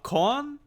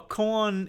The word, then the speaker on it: koan: so they can deliver a con i think that's how it's pronounced a koan is a riddle without